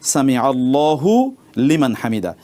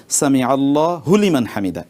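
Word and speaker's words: سمع الله لمن حمده: সেজন্য পড়তে হবে সামি আল্লাহু লিমান হামিদা। নট সামি আল্লাহ হু লিমান হামিদা।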